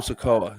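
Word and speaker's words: Sikoa: taking a shot at um what's his name sakoa is that is that how you say his name yeah SOLO yeah SOLO sakoa he took a shot at him but again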